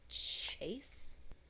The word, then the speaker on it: chaise: It's spelled Chaise. A chase?